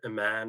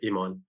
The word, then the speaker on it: Iman: It's spelt the same way as it is in Arabic, but we say Emon.